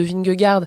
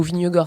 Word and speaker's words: Vingegaard: David Gaudu qui a terminé à 23 minutes de Vingegaard, ou Vingegaard, ça dépend comment vous voulez prononcer son nom, donc le vainqueur du Tour